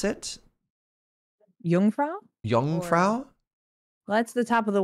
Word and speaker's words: Jungfrau: for us to go to oh can you pronounce it Jungfrau young Frau that's the Top of the World Part we